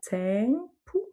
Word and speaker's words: tempo: Donc là, on a un son nasal sur le EM, tempo. Le O se prononce OU.